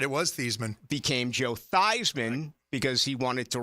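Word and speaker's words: Theismann: he that's right it was thian became Joe thyman because he wanted to rhyme with winning the Heisman which he did not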